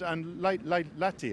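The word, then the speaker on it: Lahti: Nestto and Lati. I always mispronounce it. Lati.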